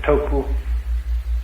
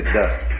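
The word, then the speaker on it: 德: The Japanese pronounce it toku, the Cantonese dak, and the northern Mandarins approximately de.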